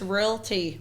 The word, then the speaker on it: realty: topic today yeah really so how do you say it realty realty realty no just real tea real tea real tea yeah straight and people that